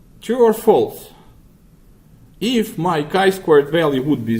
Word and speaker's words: chi-square: is, by the way, it's pronounced chi-squared, but it's spelled chi-squared. Chi-square. Not even squared, chi-square. That's how the distribution is called. Don't know why, quite honestly, because it's supposed to be chi-squared, but typically statisticians say chi-square.